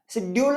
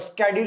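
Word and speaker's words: schedule: शेड्यूल आपका यूज होता है ब्रिटिश के अंदर और स्केड्यूल यूज होता है आपका अमेरिकन।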